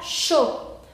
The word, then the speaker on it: chaud: Después tenemos la palabra chaud. Chaud, ¿por qué se pronuncia chaud? Porque CH es SH, igual que en rocher. Después AU se pronuncia O, aquí lo tenemos. Y la D final no se pronuncia.